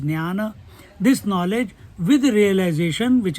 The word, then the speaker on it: Jnana: This knowledge, the knowledge, Jnana, Jnana, a correct pronunciation is Jnana.